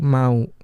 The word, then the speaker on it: mau: that sentence There was the word mau but I was pronounce it as m ada yang mau ditanyain and she kind